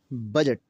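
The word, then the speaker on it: budget: बजट में देखें G से पहले D का लफ्ज़ आया, G से पहले D का लफ्ज़ और D क्या हुआ? साइलेंट हुआ।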